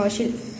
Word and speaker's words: Dr Rashel: जैसा कि आप देख रहे हैं सामने मेरे प्रोडक्ट्स पड़ी हुई हैं, ये डॉक्टर रोशिल नो क्या प्रोनाउंस करना है राशिल ओके डॉक्टर राशिल की